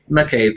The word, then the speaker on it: McCabe: I didn't ask you how to pronounce your name. Is it McCabe? McCabe, yes.